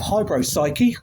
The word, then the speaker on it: Hybropsyche: With us, we have Steve Birkin of Hybropsyche. That's right. I've pronounced that correctly.